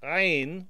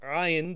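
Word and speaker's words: عين: There's a letter in the Arabic language called ayn or ayn, depending on which dialect of Arabic you're speaking, and it makes kind of like a choking sound.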